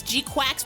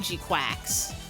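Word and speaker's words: GQuuuuuuX: I know it's Gquax because that's how they said it in the movie. And when I read the little katakana under the movie title, it said kuakusu. So, they're pronouncing it Gquax. They sure aren't spelling it that way.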